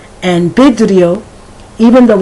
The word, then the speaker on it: vidrio: And vidrio, even though it's written with a V, it sounds as if it is written with a B.